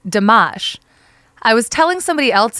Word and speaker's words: Dammasch: of the hospital was spelled da MMA SCH so I pronounced it damash I was telling somebody